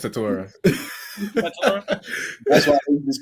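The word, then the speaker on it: Tetairoa: I believe it's Tatora.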